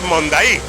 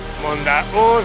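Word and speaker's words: Monday: Si lo veis escrito, se llaman los saltos del Mondaí, pero no se pronuncia Mondaí. Es una palabra guaraní que se pronuncia algo así como Mondaú, Mondaú, Mondaú.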